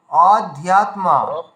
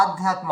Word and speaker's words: অধ্যাত্ম: অধ্যাত্মা, সকলের আধ্যাত্ম হয়ে যাচ্ছে, ঠিক আছে, অধ্যাত্মা হবে, ঠিক আছে।